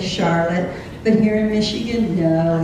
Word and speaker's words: Charlotte: should be silly saline and then we have Charlotte everyone else in the world is going to say Charlotte but here in Michigan no it's pronounced Charlotte